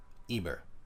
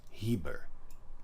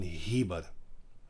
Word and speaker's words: Heber: Eber, sorry, his name is Heber. I said Eber. I did not pronounce the H. Sorry, I pronounced this. I mean Heber, not Eber.